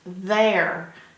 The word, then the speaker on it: there: how you pronounce it it's pronounced there as in I want to go over there the air that's the